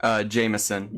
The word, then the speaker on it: Jameson: Pronounce it for me correctly so I don't get yelled at, please. Jameson. Jameson. Got it? It wasn't me that said Jason, I don't think.